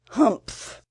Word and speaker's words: humph: If you read this story aloud, please pronounce humph exactly as it's spelt, for that is how he said it.